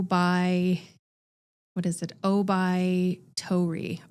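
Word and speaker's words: 桜梅桃李: there is a Japanese idiome word and it's pronounced o by what is it o by Tori o by Tori so the idea is that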